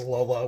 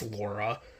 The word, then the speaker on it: Laura: I still find it funny how they say her name in the volumes is Lola when it's very clearly, like, every other source says it's Laura. L's and R's in Japanese are fucky.